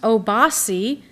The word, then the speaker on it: OBAC: America's Black Arts Movement pronounced oasi meaning chieftain in the Yuba language the organization sponsored a